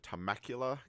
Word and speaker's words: Temecula: April 28th through the 30th, and this is going to be at Temecula, California. I cannot believe you pronounced that correctly.